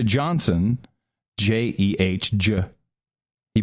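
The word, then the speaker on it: Jeh: Johnson, J-E-H, J. He pronounces it J, but it's J.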